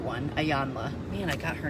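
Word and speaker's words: Iyanla: Like, what's the Ayanya one? Ayanla. Man, I got her name wrong 3 times.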